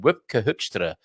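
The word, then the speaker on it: Wopke Hoekstra: She's Dutch and she likes my pronunciation of the Dutch minister's name, Wipke Hoekstra.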